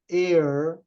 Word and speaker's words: err: But do not err. E-R-R이 air, A-I-R. 공기를 가리키는 air하고 발음이 똑같아요.